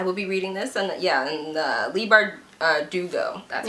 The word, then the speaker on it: Leigh Bardugo: So I will be reading this, and Leigh Bardugo, that's how you say it.